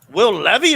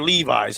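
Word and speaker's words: Levis: What did you think of where Will Levy or Levi's? How do you pronounce this kid's name?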